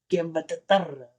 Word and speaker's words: Guillermo del Toro: Guillermo del Toro.